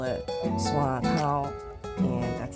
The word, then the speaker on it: Swatow: So it's called Swatow. Swatow is the English word for the dialect pronunciation of my hometown.